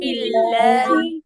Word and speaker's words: بالله: বিল্লাহ এরকম পুরো একদম সরেয়ার মতো সোজাও হবে না, বিল্লে এরকম একারের মতো হবে না, বিল্লে আবার বাঁকাও হবে না।